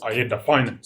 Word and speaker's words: AADA.Finance: We're going to pronounce it as ADDA.Finance.